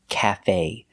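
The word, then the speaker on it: café: This is cafe. We stress both syllables.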